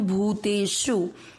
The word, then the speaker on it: भूतेषु: के साथ बोलया सर्वेश भू पर बड़े उऊ की मात लंबा खींचना है भूतेषु तीसरा चरण रिपीट सम